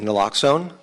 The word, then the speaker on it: naloxone: uh the drug is fairly nominal it's generic naloxone is that how you pronounce it yes ma'am naloxone the trade name is narcan it's been around